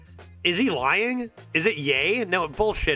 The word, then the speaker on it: Ye: nimus get in here pronounced like yay I believe you I don't is he lying is it yay no